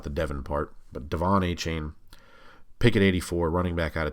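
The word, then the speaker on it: De'Von Achane: Devon a chain and he pronounces it a chain in the video I've seen people all chain and all that you know it's it's a chain and it's Devon not Devin Devon a chain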